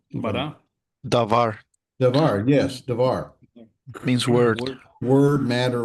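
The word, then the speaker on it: דבר: Davar Davar, yes, Davar.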